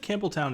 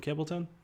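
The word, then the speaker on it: Campbeltown: I never know if I should call it Campbelltown or Campbellton. I feel like the locals probably call it Campbellton, but if not, something totally unpronounceable by my stupid American tongue.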